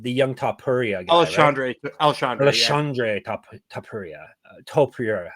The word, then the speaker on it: Topuria: Topuria.